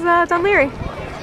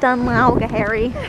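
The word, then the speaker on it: Dún Laoghaire: you # fitbo anyways this is D lry pronounced d lry not D liry that's what I thought it was for a while I was like hairy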